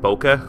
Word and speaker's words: bokeh: how to pronounce it bokeh okay I'm Minnesotan so it's like a bouquet yeah let's get the